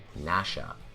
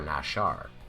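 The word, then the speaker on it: נָשָׁה: The word quoted in the image is actually pronounced nasha, or nashar, and does mean to deceive.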